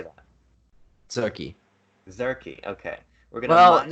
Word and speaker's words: Tzurki: Zurki. Zurki. Okay. We're gonna. It's sort of like a TZ. It's like a, I don't know. Like Zadziki. Yeah, it is like Tzatziki. Yeah.